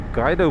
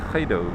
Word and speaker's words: Gydo: and spoke about it, I called it the Guido pass, which is apparently completely wrong and maybe only showed my ignorance. But I was corrected and the correct pronunciation of this pass is in fact Khaido.